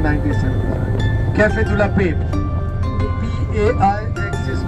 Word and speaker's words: Paix: P-A-I-X is pronounced Paix.